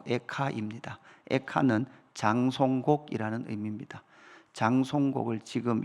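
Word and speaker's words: איכה: 애가는 우리말로도 한자로 애가지만 이 책의 히브리어 발음도 에카입니다.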